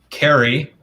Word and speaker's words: Carrie: Carrie is how we pronounce her name.